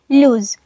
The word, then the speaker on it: lose: सो हमारा पहला वर्ड है लूज, LOSE। इसमें एक ओ आता है, पर इसे हम जब प्रोनाउंस करते हैं तो लूज खींच कर बोलते हैं, लूज। और इसमें जेड का साउंड आता है, जी, लूज।